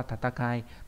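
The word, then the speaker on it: 闘い: là chữ đấu nhá, nó là tatakai, nó viết nhấn mạnh thay cho chữ chiến thôi, bởi vì chiến và đấu thì đều đọc là như thế hết.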